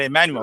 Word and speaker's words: Immanuwel: They basically said it like, like Manny Pacquiao, Immanuwel, right? Immanuel.